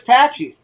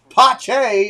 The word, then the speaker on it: Pache: james all right here's patchy another two out hit the brakes could put another run on the board let's see what happens sorry i'm saying it wrong pache is up yeah welcome in everybody